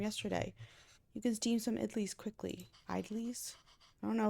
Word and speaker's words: idli: Pronunciation. Oops. It'll take me too long, Venba, don't worry. Idlis.